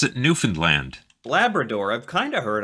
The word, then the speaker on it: Newfoundland: We pronounce it Newfoundland.